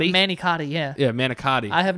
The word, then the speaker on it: manicotti: in an American Way I think it's a manicott no it's a manicotti yeah yeah manicotti I